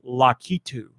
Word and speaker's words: Lakitu: two no lucky two they're called lakitu La kitu no we no we didn't